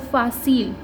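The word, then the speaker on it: fácil: तो FA हमने भी पढ़ा है फा, CI अभी हमने देखा है सी, और L तो L है तो फासील।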